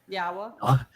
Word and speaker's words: Yahowah: go, we're told that the wah is pronounced as an o sound and the hey is pronounced as an a and the y is pronounced like you would pronounce it in Israel or in yashya.